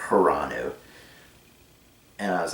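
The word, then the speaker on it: Hranu: see hiranu and his his name was spelled funny it was like h r a n u so i always pronounced it hiranu and i was like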